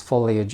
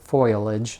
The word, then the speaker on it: foliage: that half the time I pronounce foliage as foilage like 10 foilage sorry I don't hear myself and it's just a word I very frequently mispronounced but anyway this was basically